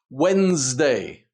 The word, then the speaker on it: Wednesday: Wednesday, we don't pronounce the D or the E.